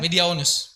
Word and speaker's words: Mediaunus: Bacanya gimana? Mediaunus apa? Mediaunus. Ya, benar. Digabung apa dipisah? Gabung. Oh digabung.